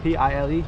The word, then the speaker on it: Pile: Pile gate is spelled like P-I-L-E, but I think it's called Pile gate.